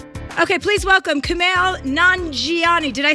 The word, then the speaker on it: Kumail Nanjiani: Okay, please welcome Kumail Nanjiani.